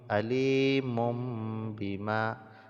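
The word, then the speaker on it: عليم بما: Jadi seolah di sini kita membacanya ada mim yang sukun, maka kita baca alimum, alimum bima, dan didengungkan kadar 2 harokat.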